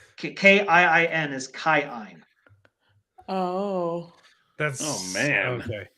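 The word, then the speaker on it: Kiin: a long vowel and if it's a double vowel you pronounce both of them so it's not k-i-i-n is chi-in Oh that's oh man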